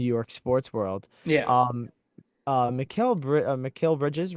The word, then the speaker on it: Mikal Bridges: um, Mikal Bridges, right?